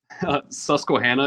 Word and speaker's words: Susquehanna: And can you remind me of the pronunciation of the school that you went to? Because I don't want to butcher that. Susquehanna University.